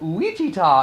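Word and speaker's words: Ouachita: uichita national forest and you have to say it that way because it's some kind of indian word and that's how they spell it so it's luigi ta it's not wichita because that's too easy and they're in arkansas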